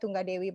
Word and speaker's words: Tunggadewi: You can call me, my full name is actually a little bit hard to pronounce. It's Tunggadewi, but you can call me Tunggadewi or just.